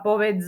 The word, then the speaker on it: povedz: aké písmenko je tam napísané dz ale ja som nepovedala povedz z Počul si povedz z Ja som počula že som povedala povedz na konci je počuteľné C čiže ideme si povedať